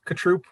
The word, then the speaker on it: Cotrupe: It is Cotrupe like a sneeze. Cotrupe like a sneeze. Achoo, like right.